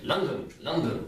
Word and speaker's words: London: We would say London. Yeah. London. So we would give it the second syllable.